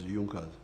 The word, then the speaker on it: Junkers: It is written in Junkers, but they pronounce it as Junkers.